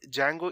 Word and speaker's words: Django: first thing is that django is spelled as dg a ngo because some people are there out there who just think that django means j-a-n-g-o which is obviously wrong so today's tutorial would